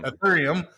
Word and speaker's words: Ethereum: Ethereum.